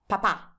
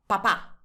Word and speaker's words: papà: Papà. Papà. Papà. Can you hear? I don't stop on the first A at all. I just go straight to the end of the word.